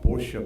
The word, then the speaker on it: Porsche: why does it matter so this word is pronounced Porsche by the way just so that you know